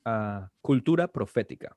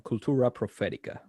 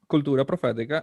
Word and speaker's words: Cultura Profética: And if I pronounce it a little bit more American, Cultura Profetica. And the song... You can keep it the way it is. Yeah, Cultura Profética.